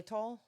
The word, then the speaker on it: Xylitol: Xylitol? Yes, there you go. Xylitol is a natural sweetener that prevents cavity-causing bacteria from sticking to teeth. The bacteria. Xylitol is in pretty much any sugar-free gum.